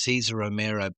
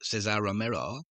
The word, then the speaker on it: Cesar Romero: Cesar Romero, sometimes pronounced Cesar Romero, but he pronounced it Cesar Romero.